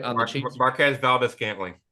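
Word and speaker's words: Marquez Valdes-Scantling: Marquez Valdez-Scantling, right? On the Chiefs. Marquez Valdez-Scantling.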